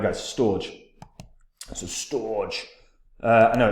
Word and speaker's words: Storj: a decent long-term uptrend now storage pronounced as storage is an open source